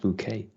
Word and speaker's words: bouquet: of with high school besides bouquet i said bucket yeah exactly pronounced bouquet it is quite woody